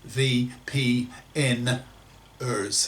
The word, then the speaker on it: VPNers: vpns whom i label the vpns pronounced v p n ers that's ers i believe that it